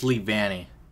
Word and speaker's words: Leavanny: It's Leavanny. Oh my god, I just realized I've been saying it wrong this whole entire time.